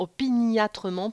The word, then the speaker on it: opiniâtrement: On remarquera la place de l'adverbe opiniâtrement en clausule ainsi que la diérèse puisque ça se prononce normalement opiniâtrement pour ajouter une syllabe.